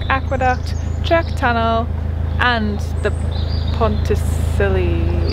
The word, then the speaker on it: Pontcysyllte: do you check aqueduct check tunnel and the pontesilli it's how you say it aqueduct and then